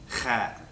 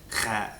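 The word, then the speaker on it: خ: Kha is not so hard to pronounce as the ha. It shouldn't take so long for you to figure out. If you speak any German, it'll sound very familiar to you.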